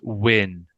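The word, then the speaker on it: Nguyen: pronounce that Hannah Hannah I think it's win are you sure I I don't know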